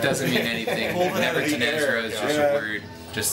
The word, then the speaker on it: Nevertanezra: Nevertanezra is just a word.